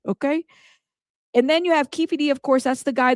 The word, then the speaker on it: Keefe D: we know him as Kei D. Even though it's spelled by the state ke F Keffy, it's Kei D. Okay, don't get caught saying Keffy D. Okay. Say Kefi D and correct the person because then you gonna get people correcting you.